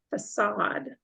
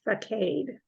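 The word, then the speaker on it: façade: word that starts with the letter F is pronounced facade that's kind of a hard one because it looks like facade yeah God means the front of something they're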